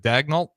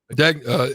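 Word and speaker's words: Daigneault: Is it Dagnalt? Dagnol.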